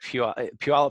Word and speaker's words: Puyallup: of the Puyallup fair yeah yeah now like Puyallup fair wasn't good enough so now they call